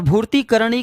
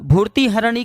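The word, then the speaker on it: भूतिहरणी: को पीड़ित करने वाला तो हनुमान जी महाराज ने वहां पे ह की जगह का उच्चारण करने को बोला भूति हरणी का जो उच्चारण होता है वह होता है प्राणियों की पीड़ा हरने वाला और भूति करण वाले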